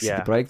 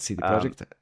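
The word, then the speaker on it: CD Projekt: is just a disaster I think they say CD project okay but for me it's the project right so okay you should ask some from them all right I thought that like as your first day you get like, okay, if you're speaking English, you need to pronounce it this way because to me, this is so confusing. I never know. I just always say both. Say both like city project, see the project.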